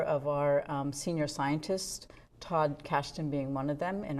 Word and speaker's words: Kashdan: Todd Kashdan, is that how you pronounce his name?